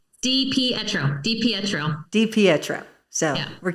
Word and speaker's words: Di Pietro: Di Pietro.